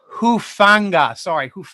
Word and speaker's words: Hufanga: Talahana Hafuga from USC, obviously from the islands of Samoa. Love that name. Hufanga. I mispronounced it.